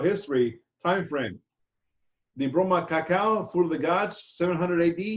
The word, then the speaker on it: cacao: 1504, Columbus brought the cacao bean to Spain. The term cacao, mispronounced as cocoa, is the Xochitl potent drink.